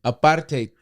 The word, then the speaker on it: apartheid: I butchered it. Apartheid.